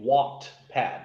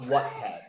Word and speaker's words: Wattpad: For those of us who are listening, Stevie meant to say Wattpad, not Whatpad. Is it Whatpad? Yeah, like that's a annoying. light bulb watts.